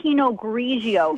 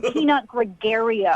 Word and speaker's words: Pinot Grigio: You don't even know how to say Pinot Grigio. It's not Pinot Gregario.